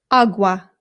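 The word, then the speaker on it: agua: Awa. This is the word for water. Awa. Awa. Again, the a makes an a sound. There are some British people, including people in my own family, who say awa, and it is not correct.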